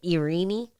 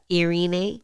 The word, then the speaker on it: Irene: uh you you how do you say it irini yeah Irene uh bris said it kind of weird but